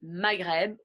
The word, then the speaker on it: Maghreb: Le B est généralement une lettre qui est prononcée. Des exemples seraient Maghreb ou Snob. So the B is usually a letter that is pronounced in the examples I just gave.